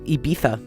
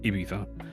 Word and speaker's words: Ibiza: Well, because like it's in Ibiza, right? Ibiza. Instead of Ibiza. See, that's interesting because Ibiza is spelled with a Z. Right. Yeah, but they put the th.